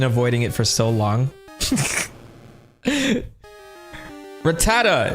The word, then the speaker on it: Rattata: Rattata. For the longest time, I called them rattata. Like a gunshot.